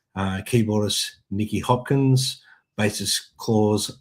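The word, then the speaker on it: Klaus: Uh keyboardist Nikki Hopkins, basist Claus Vorman, I hope I pronounced that correctly. Clman. Yes, Claus. Yes. Close. How do you say that? Simon Close.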